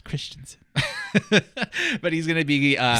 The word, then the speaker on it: Christensen: gonna have edwin mcgregor and i'm holding and pronouncing this correctly steven christensen christensen christiansen is it christensen it's christensen but he's going to be some people he's